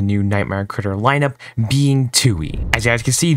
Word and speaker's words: Tui: nightmare Critter lineup being Tui as you guys can see this is tu and it also helps you say how to pronounce it being 2 e so you know pretty